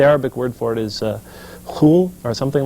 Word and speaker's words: khul: I guess the Arabic word for it is khul or something like this. I have a difficult time pronouncing it. They often spell it phonetically as K-H-U-L, K-H-U-L, sort of like a khul.